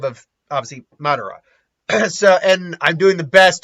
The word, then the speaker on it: Madara: say it it's not it's not Medora I keep saying like Medora sometimes I believe it's Madara is the name of obviously Madara and I'm doing the